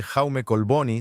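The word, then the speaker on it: Jaume Collboni: El acuerdo fue firmado en el Ayuntamiento de la capital catalana, hablando de Barcelona por el alcalde Jaume Colboni, si lo estoy pronunciando correctamente, y su homólogo, el alcalde de Ramala, Isa Casis.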